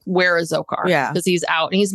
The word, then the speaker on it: Dzhokhar: Zokar. Zokar because the D is silent.